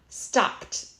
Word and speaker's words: stopped: example mop mop okay notice it's a t sound at the end too stop stopped plan Planned jog jogged